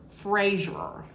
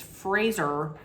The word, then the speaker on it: Fraser: the past I had always said Brendan Frazier but it's really not it's Fraser like razor so that's why I consciously make sure that I say Fraser every time every time